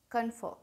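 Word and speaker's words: confer: कन्फर, यहाँ पे are silent, कन्फर, give और to discuss something with somebody before making a decision.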